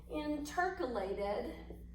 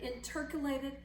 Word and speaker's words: intercalated: these blended cell membrane areas they are called intercalated that's how you pronounce it intercalated disc it's an intercalated disc and so that's what this is an